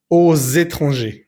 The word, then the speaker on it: aux étrangers: Aquí es muy importante la liaison. Aux étrangers. Es lo mismo que decíamos antes. En español vamos a decir a los extranjeros. En francés no vamos a decir a les étrangers, sino que el a más el le se va a convertir en o. Se escribe siempre AUX. Y como la siguiente palabra comienza por vocal, pues vamos a hacer siempre la liaison.